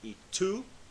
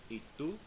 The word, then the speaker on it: tú: Now you notice also with the word tú, the word for you, I'm pronouncing the T with no air. I'm not saying y tú, like the number 2 in English, but rather ¿y tú?